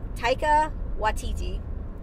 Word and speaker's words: Taika Waititi: myself let's see if I can do it Taika Waititi okay is known for Flight of the Conchords